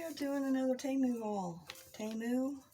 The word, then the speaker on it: Temu: Temu, I think is how you say it correctly.